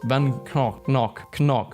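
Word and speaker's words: Van Gogh: Vincent Van Go is Dutch, so his name is actually pronounced Van Knock.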